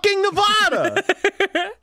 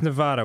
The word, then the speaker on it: Nevada: the head yeah yeah pronounce it so that the middle part rhymes with ad the ad sound in the word sad I don't believe that